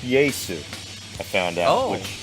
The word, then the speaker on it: Jesu: like just as much called jesus but it's pronounced yay soo i found out like well then why didn't